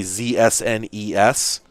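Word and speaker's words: ZSNES: swear oh hmm yeah i used to just spell it all out i'd say z-s-n-e-s but um yeah i'd definitely say z-snes now it's nest 9x oops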